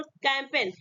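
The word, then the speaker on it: campaign: कैंपेन, कैंपेन में देखिए यहाँ पे एन आया, एन से पहले क्या आपका है, जी आया। इसको भी हम क्या करेंगे, जी को हम नहीं पढ़ेंगे, साइलेंट रहता है, मुक रहता है और इसको हम प्रोनाउंसिएशन नहीं करते हैं।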